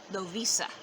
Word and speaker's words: Lovisa: Actually, I've just found out recently it's actually supposed to be pronounced Lovisa.